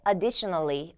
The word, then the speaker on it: additionally: 자 그다음에 두 번째 additionally additionally라고 하실 때 여기는 a 아니고 additionally 하면서 D 쪽에다가 강세를 또 주시면 돼요 자 마지막 단어는 available